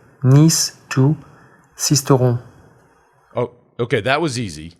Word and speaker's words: Sisteron: So we brought in a real frog to give us the correct pronunciation. Stage 3. Stage 3, Nice to Sisteron.